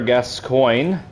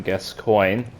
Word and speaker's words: Gascoigne: I believe that's the way that you're supposed to pronounce his name, Gascoigne. Although I sometimes joke that it's pronounced Gascoigne. Gascoigne. Yep, that actually I think that other one is the real one.